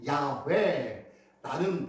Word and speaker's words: 야훼: 여호와라고 말하는 것은 조금 발음이 야훼라는 발음이 더 정확하다고는 해요. 하지만 우리는 여호와라고 이미 익숙해졌기 때문에 여호와라고 얘기하죠.